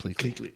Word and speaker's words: Pleakley: Pleakley.